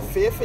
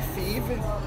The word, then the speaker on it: Feffe: Det hedder Feffe, ikke Fefe. Feffe? Feffe. Med æ. Eller ligesom hvis man udtaler det. Ja, ligesom æ, ikke?